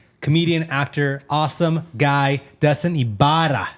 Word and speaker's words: Ybarra: Comedian, actor, awesome guy, Dustin Ybarra. How you doing, man? Ah, thank you. Oh, you did that good, man. Yeah, you Ibarra. gotta roll Ibarra.